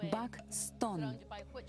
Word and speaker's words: Бакстон: Бакстон читается Бакстон.